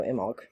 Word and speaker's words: Imbolc: Imbolc, or the B is silent, so Imbolc, right?